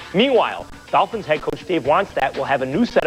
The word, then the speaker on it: Wannstedt: Well, first of all, your pronunciation guy for Woody, it's Wannstedt.